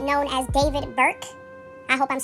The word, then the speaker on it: D4VD: So, we are going to get right into this news that dropped about the singer David, it's spelled D 4 V D, who has been going viral for some time now for I think the past year, almost.